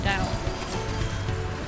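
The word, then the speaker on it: Tao: Chinese is just weird because, like, T-A-O, I remember being in high school and they said you don't pronounce it like a T, it's a D, it's usually the Dao.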